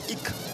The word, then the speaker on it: Ik: Cuando se inicia el viento, el jeroglífico que se ve a la derecha junto a las aves se pronuncia Ik y quiere decir viento.